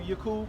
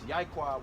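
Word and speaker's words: יעקב: You know why they gave you Yakub? Because the covenant was made with our forefathers was Jacob. So the way you say his name in Hebrew is Yaquab, which means to serve plant.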